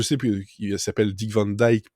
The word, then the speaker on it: Van Dyke: plus qui s'appelle dick van dyke pour les américains parce que c'est comme ça qu'ils prononcent mais si on prononce à la néerlandaise s'est dit van dijk donc c'est soit là